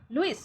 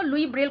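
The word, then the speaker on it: Louis Braille: Okay, the hearing वैसे देखो इनका एस जो है ना, लुइस ब्रेल, तो लुइस ना बोल के इनको लुई ब्रेल कहा जाता है।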